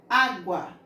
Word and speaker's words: água: ser o ovo também na palavra água nós iremos pronunciar a vogal com menos força com menos intensidade água praticamente o quase você não escuta o som da vogal u a não ser que eu leia a rua mas não é assim que nós vemos nem nem falamos água então o aqui por